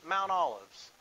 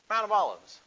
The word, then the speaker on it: Mount of Olives: he sets foot on Mount Olives. I said it again, didn't I? Did I say it right that time? Yeah. Yeah. Thought I messed up again. Mount of Olives.